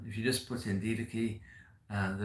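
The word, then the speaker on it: Didache: sent Ignatius of Antioch um and also the D key spelled daachi d d a c h e pronounce d Kei um and if you can get those um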